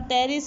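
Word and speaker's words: Pteris: तो एग्जाम्पल में क्या आता है, लाइकोपोडियम आता है, ठीक है, उसके बाद टेरिस आता है, इसमें पी साइलेंट होता है, एडियंटम आता है, स्लेजिनेला आता है, सिलोटम आता है, इक्विसेटम आता है, ड्रायोटेरिस आता है।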